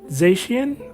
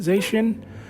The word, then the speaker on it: Zacian: Is that Zacian? I believe you pronounce it, Zacian.